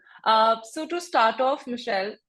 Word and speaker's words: Michelle: so to start of Michelle am I pronouncing your name right yes yes awesome to start off Michelle